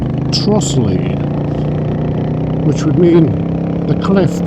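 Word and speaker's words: Trottiscliffe: It's spelt Trottis Cliff, but apparently it's pronounced Trossley. Trossley, which would mean the cliff part of it is the Lee bit, so maybe that's Lee Woods.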